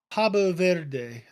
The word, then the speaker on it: Cabo Verde: There are more people in Columbus than there are people in uh, Cabo Verde. Actually, I believe is what it says here, is how it's pronounced.